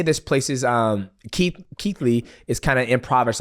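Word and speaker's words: Keighley: It was meant to happen and this place uh Ke Keithley Keithley. Yeah, you spell it nothing like that and I don't I don't even uh I didn't even really know this place existed to be honest.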